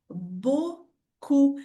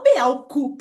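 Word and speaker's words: beaucoup: Então aqui a pronúncia da palavra muito é bocu e não be cup, né? Imagina que pronúncia horrível. Beau cup. Me ajuda aí, né? Então o e a u tem o som de o.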